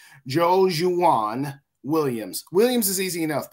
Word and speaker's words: Joejuan: We signed, and I'm see if I can get it right, Joejuan Williams. Williams is easy enough, but I believe the pronunciation is Joejuan, cornerback from the New England Patriots.